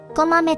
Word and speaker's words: 小豆: あたちの名前は、小さい豆と書いて、こまめと読みます。